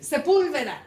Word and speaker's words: Sepúlveda: It has an accent on the U in Spanish. No. What? What's the name? How are you? Sepúlveda.